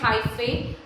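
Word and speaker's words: hyphae: किससे हाई फे से हाई फे को हम प्रोनाउंस करते हैं हाई फे हाई फे की हाई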